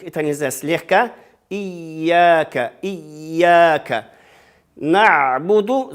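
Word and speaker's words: نَعْبُدُ: На'буду, звук айн тоже нельзя, как делать. Чуть-чуть звук даем.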